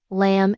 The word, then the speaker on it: lamb: Take the letter B at the end of words like thumb, lamb, and climb. It's always silent when it comes after M.